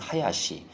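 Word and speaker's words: 林: 요건 수풀림 그래서 하야시.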